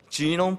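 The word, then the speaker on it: genome: 게놈 프로젝트, 영어식 발음 그대로 하면 잘 못하지만 해보겠습니다. 지놈 프로젝트입니다. G라고 발음하는 겁니다.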